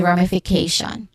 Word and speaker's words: ramification: Okay, pronunciation wise, we start with rum, which has a short a sound, and then followed by a short e sound, and then fi, which also has a short e sound, k, which has a diphthong at the end, a, and then shun.